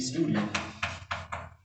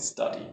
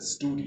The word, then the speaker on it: Study: synthetic horn and the fs stands for bd studios because they were the inventors of a